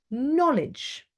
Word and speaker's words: knowledge: k you know something we don't say Cano knowledge okay you have a knack